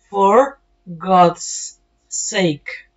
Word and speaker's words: For God's sake: For God's sake. Por eso se oye una S larga.